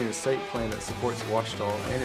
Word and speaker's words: Ouachita: I've heard people say, oh, a cheetah. Oh, Wichita. Oh, a cheetah. Is it pronounced oh, a cheetah? Searching for Ouachita Baptist University. Back in Texas, everybody pronounces it Wichita, but really, it's Ouachita.